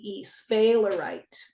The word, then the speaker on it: sphalerite: So my stone today is sphalerite. It's spelled S-P-H-A-E-L-E-R-I-T-E, sphalerite.